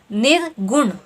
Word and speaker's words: निर्गुण: ठीक है, जब आप इसका उच्चारण कर रहे हैं तो क्या ध्वनि आ रही है आपको? नी, निर्गुण। न पे भी आपका जोर पड़ रहा है और ग पे भी जोर पड़ रहा है। ठीक है, अर्थात यहाँ क्या हो गया? आपके दोनों ही ह्रस्व स्वर होंगे, लघु स्वर होंगे।